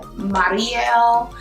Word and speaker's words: Mariale: too faced i think the proper way to pronounce her name is like marielle it doesn't sound like mario it's like mario